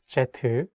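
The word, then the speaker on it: 제트: as you know um jet should be pronounced as jetu I never had a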